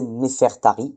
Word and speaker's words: Néfertari: Bon, enfin pour pour la faire courte c'est Néfertari. C'est pas Néfertiti perdu et ça vient de et en grec ancien on dit Nefertyri, Nefertyri.